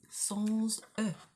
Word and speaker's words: sans eux: Normally that's pronounced sans. But if it's followed by a word that starts with a vowel, like eux means them, then you pronounce the S, and that little bit there, you make a liaison between that S and that E. So it becomes sans eux, sans eux, sans eux.